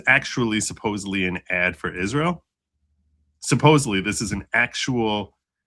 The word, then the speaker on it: Israel: around bikinis and they don't pronounce it right. It's it's Israel. Yeah. But they're pronouncing it is real.